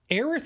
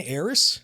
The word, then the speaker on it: Aerith: You're literally pronouncing, see, Aerith and Eris, there's leeway to have that debate because even though objectively the correct way to say it is Aerith, at the end of the day, Aerith sounds like shit.